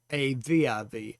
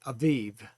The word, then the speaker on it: Aviv: And that's spelled A-B-I-B, but pronounced A-V-I-V, Aviv.